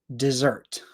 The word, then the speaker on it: dessert: you one more so the thing that you eat has two s's dessert DT dessert dessert so